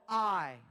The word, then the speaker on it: Ai: It's spelled A-I. So we have two choices. I can either pronounce it the right way, which is I, or I can pronounce it like artificial intelligence and say AI.